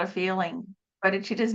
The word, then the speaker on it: bodhicitta: about that today, but the bodhicitta, I'm not pronouncing that correctly. Is that? No, you did. You've said it right.